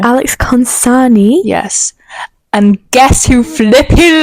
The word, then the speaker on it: Alex Consani: Cole posted a story not so long ago, and it was of Alex Kolesensky. Who? How'd you say her name? Alex Consani.